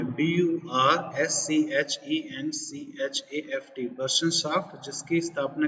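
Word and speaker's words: Burschenschaft: तो जर्मनी एकीकरण की सबसे पहली कड़ी, सबसे पहला प्रयास है बर्शनशाफ्ट। इसकी आपको स्पेलिंग में ध्यान देना पड़ेगा। बर्शनशाफ्ट ये जर्मन नाम है, BURSCHENCHAFT, बर्शनशाफ्ट, जिसकी स्थापना की गई 1815 में।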